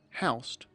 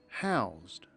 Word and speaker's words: housed: Notice that when the word house is used as a verb, it is pronounced house. The workers weren't housed. They were housed.